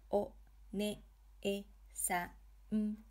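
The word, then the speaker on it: お姉さん: Here is an example of a word using hiragana e. O, ne, e, sa, n, oneesan.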